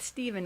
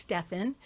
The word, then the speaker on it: Stephan: And it's not Stephen, it's Stephan. But it's got an accent.